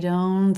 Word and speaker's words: don't: for more smoothness and here we're dropping the T sound all together I don't think the